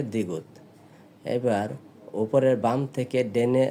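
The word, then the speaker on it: 디귿: আবার ডানে চলে এসেছে এটাকে বলা হয় দ্বিগুত এটার উচ্চারণ হবে দ্বিগুত এবার উপরে বাম থেকে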